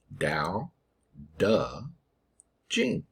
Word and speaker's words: Dao De Jing: here for you but this is pronounced dao da jin people have struggled to